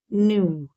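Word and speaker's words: knew: the time no वन न्यू के एन ई डब्ल्यू इसमें के साइलेंट है न्यू ठीक है के को नहीं बोलेंगे न्यू बोलेंगे न्यू where he was that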